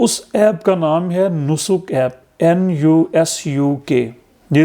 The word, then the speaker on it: Nusuk: رہا ہے، تو اس ایپ کا نام ہے نسک ایپ، NUSUK۔ یہ اسپیلنگ آپ لوگ ذرا نوٹ کر لیں، NUSUK، نسک ایپ۔ پلے اسٹور سے آپ لوگوں نے اس